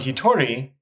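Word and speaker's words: 一人: one person or alone note that the kanji for person has an irregular pronunciation in this kanji compound it's usually read as gin ORN in this compound he Tori and another word Futami meaning two people are the only two common words that use this pronunciation there's also the generic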